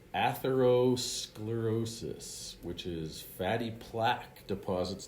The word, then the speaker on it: atherosclerosis: Okay, so this word is pronounced atherosclerosis, which is fatty plaque deposits that eventually clog the arteries.